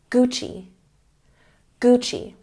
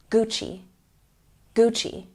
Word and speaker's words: Gucci: here practice with me Gucci Gucci we're making the CH sound even though it's a double C this is an Italian